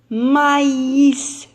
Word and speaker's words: maïs: y ait eu alors elle indique que la voyelle placé sous lui doit être prononcée séparément alors regardez bien ici on a mais même si elle allait très mal elle va un oui je prononce maïs vous savez le maïs